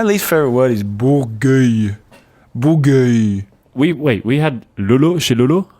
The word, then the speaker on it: Bourgueil: Bourgueil.